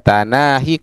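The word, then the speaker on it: تناهي: Ini tanahi ya tanahi qos ri. Jadi cara bacanya seperti itu.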